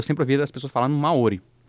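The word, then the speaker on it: Māori: A verdade é que, tipo assim, ele prolonga a vogal. Só que, como a gente fala rápido, a impressão que dá é que você muda a tônica. Então acaba sendo Maori, o jeito certo de falar.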